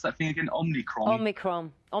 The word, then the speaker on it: Omicron: Omicron. Cron. Yeah, N on the end.